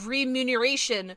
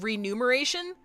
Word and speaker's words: remuneration: Like, it's like re remuneration. What do you mean? It's not renumer rem re I don't know how to pronounce that re remuneration. Remuneration. Remuneration. Remuneration. Okay. It's okay. And it's not renumeration.